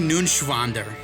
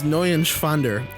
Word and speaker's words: Neuenschwander: Anthony Nunschwander. You didn't pronounce it right. That's up. Anthony Nunschwander. It's N-E-U-E-N. It's Neuenschwander.